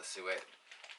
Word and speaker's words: suet: like what the is sue it and maybe i'm pronouncing it wrong some people pronounce it more like soot so it's like so i just call it suet um he the butcher